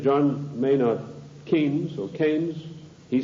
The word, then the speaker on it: Keynes: they said John Maynard Keynes or Keynes he said Keynes was a better word because arrived with big rhymes with brains and this is a